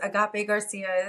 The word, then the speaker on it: Agape Garcia: And Agape Garcia is the correct pronunciation.